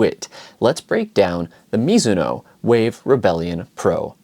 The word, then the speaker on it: Mizuno: miso actually it is miso is a Japanese last name and that is the Japanese pronunciation I am half Japanese